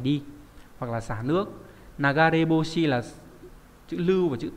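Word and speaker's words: 流れ星: Ví dụ các bạn có từ nagareboshi, và đây bỏ cái chữ d đi thì đọc theo kiểu âm gì nhỉ? Âm onyomi thì đọc là ryuse nhá. Nagareboshi hay là ryuse đều mang nghĩa là sao băng, nhưng mà cái cách đọc thứ hai là trang trọng hơn, ryuse. Nhưng mà cách đọc nagareboshi là phổ biến hơn.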